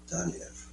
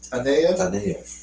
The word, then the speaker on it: Taneyev: Here it says arranged by Sergei Taneyev.